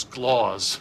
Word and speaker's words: S-Claus: For the last time, it's pronounced Sclaws.